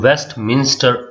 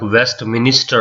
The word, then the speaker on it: Westminster: that is westminster abbey sometimes even i pronounce this word like west minister rape it's not minister it's a west minster abbey that is the part